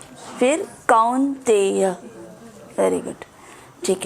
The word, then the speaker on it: कौन्तेय: मात्रा वर्षास तो कुंतिया। एस के ऊपर इश आता है, स्पर्शास्तु नहीं है, स्पर्शास्तु। श स्पर्शास्तु, कुंतेय नहीं है, आओ कौन्तेय।